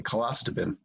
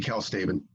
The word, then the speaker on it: calstabin: One, I really like the way you pronounced calstabin. I like it better your way, colastabin. That's really cool. But it's supposed to be calstabin.